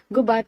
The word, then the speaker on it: Gubat: Gubat is pronounced with the accent of the second syllable.